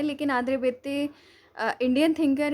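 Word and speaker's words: Béteille: आज मैं आंद्रे बेते, ठीक है, बेते ही भी पढ़ते हैं, ये स्पेलिंग होती है सही।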